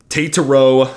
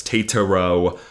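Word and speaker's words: Tetairoa: So Tataro McMillan. That is pulled from the Arizona pronunciation guide. So if it's wrong, don't yell at me. I just pulled it literally right from their game notes. Tataro McMillan.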